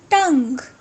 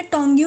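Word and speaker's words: tongue: टंग, टंग, इसको आपने टोंग्यू नहीं पढ़ना, मैंने बहुत से लोगों को सुना है टोंग्यू बोलते हुए। इट्स टंग। टंग मतलब जुबान।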